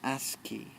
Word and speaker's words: ASCII: interchange also known as the ASC double I pronounce ASCII chart it includes the